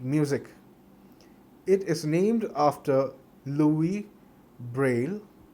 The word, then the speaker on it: Louis Braille: It is named after Louis Braille. Yes, the S is silent. Louis Braille, who developed it.